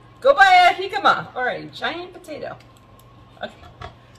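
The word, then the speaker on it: jícama: It's actually a jicama, spelled with the J at the beginning of the word.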